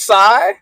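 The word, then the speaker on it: Sae: Apparently it's Sai. Apparently. Y'all going to have to correct me on that. I know I probably butchered that up.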